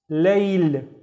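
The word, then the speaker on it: ليل: I have another la with no vowels, so it's layl, layl.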